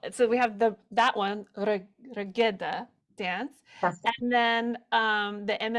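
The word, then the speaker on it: Reggada: pronounce it the regatta Regeda. Regeda. regeda. Regeda. There is a stress on the g, which is the G, Good. g. Geda. Regeda. Geda, geda, right?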